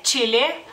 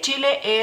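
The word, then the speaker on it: Čilė: masculino sigamos con chile aquí cambia la ch por otra letra que es el mismo sonido en lituano eh simplemente ch en lituano sí existe pero tiene otro sonido digamos así así que tenemos que cambiar esa combinación la combinación de esas dos letras por una letra propia lituana Por así decirlo y eh sería Chile Chile a la e como como pueden ver tiene un puntito Porque así es como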